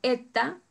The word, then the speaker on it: eta: En nombre griego, ustedes lo tienen ahí en nombre griego, se pronuncia en español eta y es la E larga.